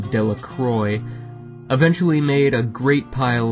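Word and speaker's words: Dellacroix: and Harry Jones and Dicky delaqua the villagers pronounced this name de Croy eventually made a great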